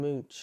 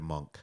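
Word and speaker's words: Munch: And the name of the movie obviously being Scream Mooch or something like that. It's not how you Sandra told me I pronounced it wrong. You corrected me to monk.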